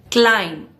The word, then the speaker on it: climb: Climb. The B is silent.